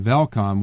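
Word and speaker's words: Welkom: was held there in velcome which by the way starts with the W but it's pronounced with a V and so we stayed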